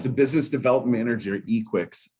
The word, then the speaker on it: Equix: It's Equix. We're going with Equix because that's how it looks.